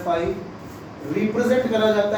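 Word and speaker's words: phi: Is another symbol जिसको Greek में बोला जाता है फाई प्रोनाउंस किया जाता है फाई रिप्रेजेंट करा जाता है ऐसे जीरो बनाना सीधी लाइन खींच लेना है।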